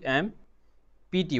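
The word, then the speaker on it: empty: ई am sorry E एम पी टी Y. Here full. E एम पी टी वाई इसका pronunciation होता है एम्प्टी. Okay P silent होता है.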